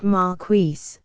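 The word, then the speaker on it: Marquis: never give the almost perfect state by Don Maris Don mares is a real name not a pseudonym it is pronounced marqueis not Mari I reprint here two of Mr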